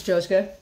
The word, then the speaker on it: Josuke: Suki yes did I say it right it's josuke where'd you get josuke out of that it